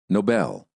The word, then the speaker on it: Nobel: the American accent listen and repeat no Noble Nobel he won the Nobel Prize for his Noble